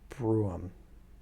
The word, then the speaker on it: brougham: Broham pronunciation. Well, apparently it's so bizarre a word, not too many people have said it. Brougham.